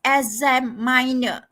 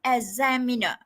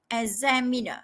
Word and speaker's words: examiner: candid this okay uh pronounce it as Asam minor okay it's not Asam minor but examiner okay examiner not Asam Miner okay so vocabulary okay